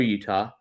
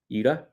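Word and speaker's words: Yuta: Well, I did take note of how uh Wheeler Utah and I know I'm saying it wrong. Uda.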